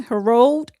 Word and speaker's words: Herod: adult ministry, a different ruler, how do you pronounce his name? Herod.